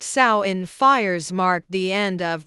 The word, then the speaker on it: Samhain: In Celtic tradition, Samhain, pronounced Samhain, fires marked the end of the harvest season and the beginning of winter, the darker half of the year.